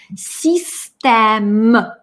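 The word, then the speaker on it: système: И произносим систем. М отстреливает. Систем. По-русски это как звучит? Система. А по-французски очень четко. Систем.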